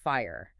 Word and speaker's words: FHIR: And then there's FHIR, which is pronounced fire.